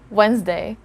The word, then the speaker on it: Wednesday: word here because commonly english learners do not know that the letter d here is a silent letter d so yeah